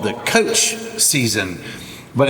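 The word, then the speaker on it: txotx: The Cider The Cider season is called the coach season but it's spelled it's spelled TX o TX but it says right there it's pronounce i SS i p p i so uh during the coach season they have these barrels that sound like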